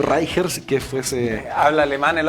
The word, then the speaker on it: Reicher: He escuchado de todas las maneras, hasta Sí. un profesor alguna vez me dijo así. Sí. Se escribe Reicher, yo le digo Reicher, que fuese...